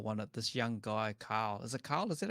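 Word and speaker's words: Kalle: This young guy, Carl. Is it Carl? Is that how you say his name? Calais. Calais?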